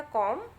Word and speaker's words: comb: तो देखिए क्या बोलना है आपको, लिखा जरूर COMB है बच्चों, लेकिन बी को आपको प्रोनाउंस नहीं करना है। तो ये हो जाएगा कॉम, दूसरा हो जाएगा बॉम, थम, क्लाइम, टॉम, क्रम और लैम्प।